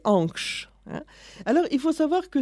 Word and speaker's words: Ankh: La prononciation, déjà, c'est tout à fait de nous de ne pas mettre bien les valeurs phonétiques. En vérité, on le prononçait Ankh.